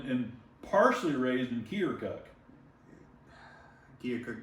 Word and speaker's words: Keokuk: Keokuk doesn't have an R and it doesn't have an L.